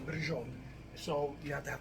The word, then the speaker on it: braciole: It's pronounced differently, different people. It looks like Braciole is the closest, right? Braciole.